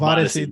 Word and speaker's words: Vodyssey: Or you can tap into Vodyssey. I'm the worst. My wife right now would be, Ruben, that's not how you say it. That is how you say it. Vodyssey. You got it.